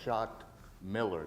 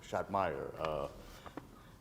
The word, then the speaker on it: Schott Miller: Pendergrass, you mispronounced my name. It's Schott Miller, not Schottmeyer.